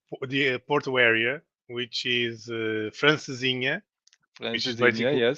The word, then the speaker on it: francesinha: How do you pronounce it? no, it's a traditional meal from the Porto area, which is francesinha, which is Francesinha, basically yes.